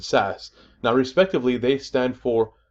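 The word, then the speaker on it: SaaS: years how about this these three acronyms each of them four letters long pronounced I ass pass and sass now respectively they stand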